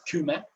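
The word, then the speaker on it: Kyme: In Aeolus, we have Kima, or Kume, some people would like to pronounce it, and which is more fitting in Greek, Kume.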